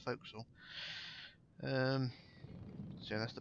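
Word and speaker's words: forecastle: and that's flooded the entire bow now whole Folk's under remember kids the folk may it may be spelled for Cle but it's pronounced folkal um so that's the B right the way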